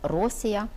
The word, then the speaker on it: Росія: Україну у цей час по-грецькому називали Росія з наголосом на першому складі тому якщо ми працюємо